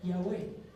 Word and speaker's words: Yahweh: 4 letras en hebreo, que la pronunciación más cercana, por lo menos la más cercana, es Yahweh.